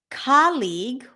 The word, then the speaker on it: colleague: colleague colleague colleague colleague two syllables not three even though we have two vowels in the mid middle and then one at the end two syllables colleague okay not colleague how would you say